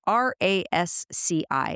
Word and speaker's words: RASCI: They pronounce it differently, but it's RASCI.